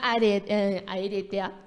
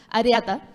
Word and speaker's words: areata: de Yada Pinket Smith y a lo decía Aeretea es que es difícil de pronunciar areata, perdón, desde muy joven ha habido eh hablado